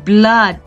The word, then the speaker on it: blood: Lalu blood. Nah, blood itu artinya nih udah terlihat darah ya. Nah, ini double O dibacanya A. Ya, double O di tengah itu dibacanya A.